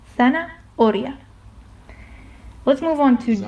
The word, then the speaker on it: zanahoria: You pretend like it's not there and you go on with the with the rest of the word. Zanahoria.